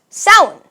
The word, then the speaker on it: Samhain: that looks like Samhain right but it's actually pronounced salad it was old English what are you gonna